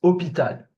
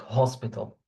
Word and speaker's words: hôpital: So H, a special thing about the H in French, it's silent. Okay, it's a silent letter. Whenever you find it in a word, it's a silent letter. Okay, for example, a hospital, it's hôpital, not hospital, hôpital. Okay.